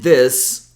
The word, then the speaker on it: this: I think the best way for you to think about this is imagine these is spelled like these, T-H-E-E-Z. And this like T-H, maybe no vowel S.